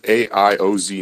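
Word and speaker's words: AIOZ: mic on over to A's Network you guys pronounce it AI o z Network yes hi thanks uh this is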